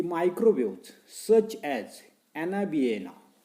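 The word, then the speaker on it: Anabaena: पाहता की microwaves such as ॲनाबिएना, नावं नीट लक्षात ठेवा, काय सांगते मी स्पेलिंग प्रमाणे त्या ठिकाणी आपल्याला उच्चार करायचा आहे.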